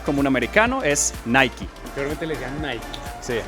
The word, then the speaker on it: Nike: Es muy interesante porque en Estados Unidos se dice Nike con la E al final, pero en muchas partes, por ejemplo en Europa, se dice solamente Nike.